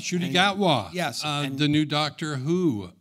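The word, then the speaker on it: Ncuti Gatwa: told me that uh and you'll have to pronounce his name shoy shoy H shy gatwa yes the new Doctor Who right worked as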